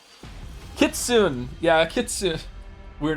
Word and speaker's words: Kitsune: Kitsune.